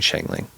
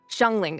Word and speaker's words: Shanling: Is that how you say her name? Sure. Yeah. Shanling. I've been I've been saying it wrong. I've been saying it wrong. I've been saying Shangling. Shanling.